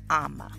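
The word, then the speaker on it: Ama: name would be um now they have two M's here but it would just be one M in the init spelling this is phonetically written here so if you are a female a girl a woman born on the blessed Sabbath day your name would be Emma so that is my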